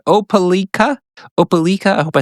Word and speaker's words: Opelika: he was very kind and put the phonetic pronunciation. Opelika. I hope I said that right. Opelika.